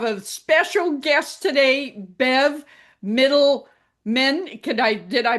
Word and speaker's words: Mitelman: And I have a special guest today, Bev Mitelman. Did I pronounce that right? Perfect. Oh, Middleman, yes.